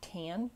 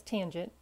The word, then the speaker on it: tangent: as ta ta n tan for tangent but pronounce it as tangent not as tan it is equal to